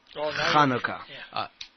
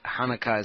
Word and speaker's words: Hanukkah: what is the proper way to say it Hanukkah nicaya haouka right that's the way I have heard it yeah he can't do the hood then hanok Chanukah is fine Hanukkah yeah I'm gonna be announced